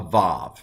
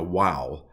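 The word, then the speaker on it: וָו: Now, the older pronunciation, maybe even in Bible times, it might have been a wow or a w sound. Modern Hebrew does vav or v, and so I'm going to go with v.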